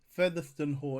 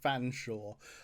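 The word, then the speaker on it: Featherstonehaugh: Yeah, I think Featherston Hall is supposed to be pronounced Fanshawe.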